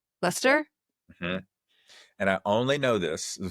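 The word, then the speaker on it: Leicester: I think it's pronounced Lester. Lester. And I only know this people UK listeners let us know. Lester.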